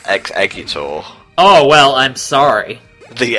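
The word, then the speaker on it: Exeggutor: shitty to me mate it's pronounced X eggor oh well I'm sorry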